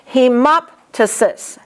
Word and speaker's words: hemoptysis: And the PTYSIS, you pronounce both the P and the T. Hemoptysis, albuminoptysis.